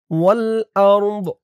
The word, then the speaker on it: والأرض: ওয়াও লাম জবর ওয়াল, হামজা র জবর আউর, ওয়াল আউর, দজের দি, এই জিম চিহ্নতে থামার কারণে দদের নিচে জেরটা সাকিন হয়ে যাবে। উচ্চারণ কেমন হবে খেয়াল করুন। ওয়াল আরদ, ওয়াল আরদ, ফিস সামাওয়াতি